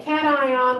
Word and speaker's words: cation: called a special name i pronounce it cation so you may hear it called locations or something like that but i like to call it cat ions they're positively charged ions